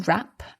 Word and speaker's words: wrap: that's right and it's worth mentioning the spelling of rap we spell it w-r-a-p so we've got a silent w at the beginning there and it's very